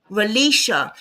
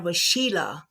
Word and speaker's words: Relisha: Relisha. For some reason, I was saying Rashila. I know a lot of people have that problem. Yeah, for some reason it's Relisha.